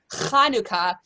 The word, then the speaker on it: Chanukah: The most popular way in English is Hanukkah, but you can also spell it with a CH because Chanukah, there is no sound for that in English.